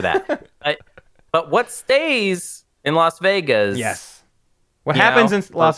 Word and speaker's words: Las Vegas: got to be, you don't mess up the pronunciation here. This one's called Las Vegas. Yep. Okay. Not Las Vegas.